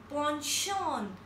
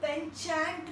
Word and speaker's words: penchant: I repeat, panchant, and we pronounce it like ponchon. Ponchon. Isko penchant nahi bolenge. We pronounce it like ponchon.